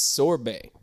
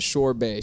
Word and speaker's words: sorbet: before but strawberry short it's sorbet that's sorbet you melt it's sorbet not shore bay shore bay sounds like